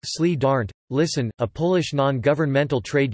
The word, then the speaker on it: Solidarność: The History of Solidarity, Polish, Solidarnosc, pronounced Sli Darnt, Listen, a Polish non-governmental trade union, began on